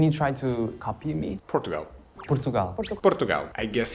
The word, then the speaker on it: Portugal: How would you pronounce my country when we Portugalia Portugal Portugal so that the way of saying say our country we say Portugal we say Portugal and can you try to copy me?